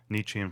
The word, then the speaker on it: Nietzsche: I certainly don't understand all of it, but it's been a pleasure getting a a basic introduction into Nietzschean philosophy. Now I know how to pronounce it.